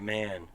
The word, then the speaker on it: Mahon: before I don't know how's he spelling Mahon m-a-h-o-n INE he probably pronounces it man oh we should see